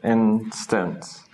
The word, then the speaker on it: instance: Because this is a rather long syllable, instance, this isn't particularly pronounced, actually. This is more like a schwa. We don't say anything, it's just we're making a sound to get from here to here. It's just a nothing, basically. Instance.